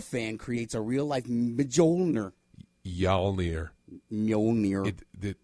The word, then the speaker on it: Mjolnir: Mjolnir. Mjolnir. The M is silent. Mjolnir.